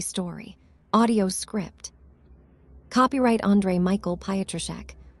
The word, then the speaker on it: Pietroschek: Copyright Michael Pietroschek. Pronounced Pietroschek.